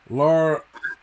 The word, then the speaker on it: Lyra: Was it Laura Valkyrie? That's about the best as I'm going to get out of it. I think it's Lyra Valkyrie.